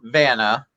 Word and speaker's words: Vana: So you have to tell me Forts Like Vana, and it's not spelled like Vanna White.